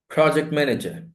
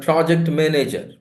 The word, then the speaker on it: project manager: Project manager. It's not project manager. Project manager.